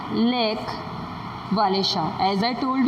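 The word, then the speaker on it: Lech Wałęsa: ऑफ the shipyard लेच वालेसा, underline this, यही वो person है जो आगे चल के पोलैंड की हिस्ट्री चेंज करने वाला है, ठीक है। इट is pronounce lake वालेशा।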